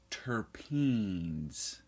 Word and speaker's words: terpene: into this right away tpin are pronounced turpen or terpenoids are the